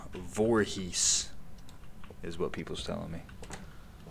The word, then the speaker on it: Voorhees: I've never been able to pronounce it correctly. I think it's Voorhees? Voorhees, yeah.